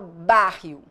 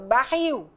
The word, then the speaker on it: barril: mais forte enfática intensa Eu não falo bário eu falo barril então a a força